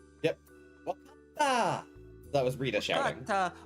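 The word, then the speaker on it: 分かった: That kanji is pronounced wa in this case. Wakata. Yep. Wakata.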